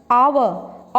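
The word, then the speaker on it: hour: Honest, आवर, honourable, ऑनर, air, heirloom. ठीक है, अब देखो मैंने 6 वर्ड्स तुम्हारे आगे बोले हैं, दिखने में शुरू हो रहे हैं ये एच से, बट एच इज साइलेंट।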